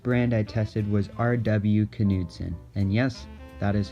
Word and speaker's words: Knudsen: Knudsen, and yes, That is how it is pronounced.